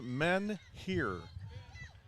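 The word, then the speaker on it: Menheer: now here is amelia men here and so her her last name is m-e-n-h-e-e-r it's pronounced men here and believe it or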